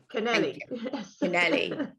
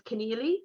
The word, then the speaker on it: Kennelly: morning with Kennelly is it Kennelly Kennelly Canali there's different pronunciations all across the island absolutely in Cork everyone says Connelly because there's an a at the end but my dad was